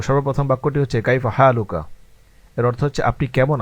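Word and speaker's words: كيف حالك: সর্বপ্রথম যে বাক্যটি নিয়ে আসা হয়েছে সেটা হচ্ছে কাইফাহালুকা। উচ্চারণ দেওয়া রয়েছে সাথে অর্থও দেওয়া রয়েছে এবং আরবিতে আমরা জবর জের লাগিয়ে দিয়েছি আপনাদের সুবিধার্থে। তো সর্বপ্রথম বাক্যটি হচ্ছে কাইফা হালুকা এর অর্থ হচ্ছে আপনি কেমন আছেন?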